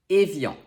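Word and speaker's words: Évian: bhutan number four evil even though it's often spelled without the accent it's really helpful to have it so we know that the first sound is a next we have i before another vowel sound which makes it sound like yeah and finally we have the nasal on to pronounce it properly you have to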